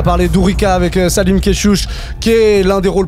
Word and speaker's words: Kechiouche: Dourika, Salim Keshush est avec nous. Je prononce bien Keshush ou Keshush? Keshush, bien.